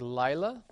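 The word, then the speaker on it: לַיְלָה: You have a word like Lila. The accent being here on the first syllable with that vav, with the original patak, it's in the open pretonic position.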